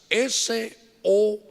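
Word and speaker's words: סוד: es una palabra que en hebreo se escribe con 3 letras, S-O-D. Se dice sod.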